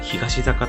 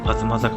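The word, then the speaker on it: 東坂: この坂は東坂と読みそうですが、東坂と読むのが正解です。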